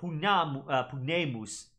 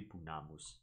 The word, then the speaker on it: pugnamus: The macron in classical Latin A would simply be that you're holding that sound a little bit longer. So instead of pugnamus, because pugnamus, pugnamus, you're sort of emphasizing that particular letter, but it's still going to make an ah sound, not an a sound. So not pugnemus, it should be pugnamus.